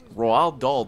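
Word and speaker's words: Roald Dahl: the Chocolate Factory author roal doll died he wased with snooker cues It's the funniest way I've ever heard roll doll pronounced roll doll Fe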